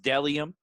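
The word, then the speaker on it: Bdellium: him secondly we have dellium clothing again that's l i o b-d-e-l-l-i-o-m clothing my friend isaac thomas doing big things uh dellium clothing is pronounced dellium even though there's a bee in the front you know um bellium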